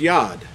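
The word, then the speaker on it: יוד: ancient Hebrew, this letter really should be pronounced as Yod. Now, I'm going to read this to you. I made some notes here. The Yod, and by the way, if you look this up, it's spelled, the letter itself is spelled with the Yod and the Dalet, which would give you the pronunciation Yod.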